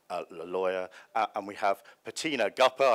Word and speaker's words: Petina Gappah: lawyer and we have patina guppa i promise not to pronounce it rapper and i've i've kept my promise she's again a lawyer